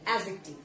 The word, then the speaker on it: adjective: Though the spelling is AD, but the pronunciation will be adjective.